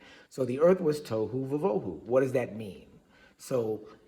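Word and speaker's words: תֹהוּ וָבֹהוּ: you'll hear the orthodox, the standard form for pronouncing it is tohu vavohu.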